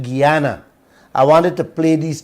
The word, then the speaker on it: Guyana: talking about your wealth can't pronounce Guyana pronounce it Guyana I wanted to play